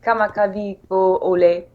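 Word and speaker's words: Kamakawiwoʻole: Rainbow, is the famous one by your Israel, Kama Kavi Ko Lei, I don't know, I'm not saying it right. How do you, Brother is, they say. Kamakaliko Ole.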